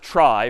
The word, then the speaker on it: trie: A trie is sort of a fancier tree. And it's short for retrieval, but pronounced trie for weird historical reasons.